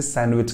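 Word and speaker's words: sandwich: तो आज मैंने सैंडविच खाई थी तो सैंडविच कहने से बढ़िया आप उसे सैंडविच कहिएगा सैंडविच की स्पेलिंग में डी साइलेंट जाता है आई रिपीट सैंडविच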